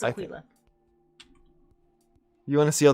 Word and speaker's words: Aquila: Is that really how it's pronounced? Aquila. No, it's Aquila.